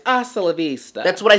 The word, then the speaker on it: hasta la vista: Hasta Valencia. If you're gonna have a closing line, can you say it right? It's hasta la vista.